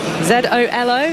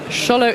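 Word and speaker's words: Xolo: Z O L O. How do you reckon that would be pronounced?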